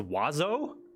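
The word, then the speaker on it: oiseau: playboy all right remember the french word for birds is which is pronounced wazo apply this logic to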